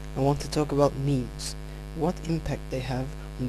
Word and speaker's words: meme: Richard Dawkins in 1976 if you pronounce it right you might find that the sound of the word resembles a bit with the word Gene and as a matter